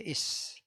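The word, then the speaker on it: איש: Laki-laki di dalam bahasa Ibrani itu tulisannya ada alef kayak X gitu ya. Ada yod kayak koma tapi di atas. Ada shin kayak W. Jadi bacanya is.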